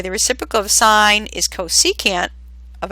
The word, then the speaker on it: cosecant: It's pronounced cosecant, but we abbreviate it CSC.